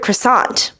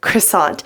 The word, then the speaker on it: croissant: this thing right here I pronounce it as croissant now I know in French it is not pronounced like this a lot of people